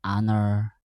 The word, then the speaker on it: honor: Nah, misalkan ee our ini tuh dibacanya O, H-nya enggak termasuk gitu. Jadi, an hour, an honor gitu.